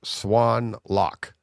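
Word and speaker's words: Xuân Lộc: And he's like, it's uh it's so X u L O C is pronounced Swan Lock. Okay. Swan as in the bird and then lock as in L C.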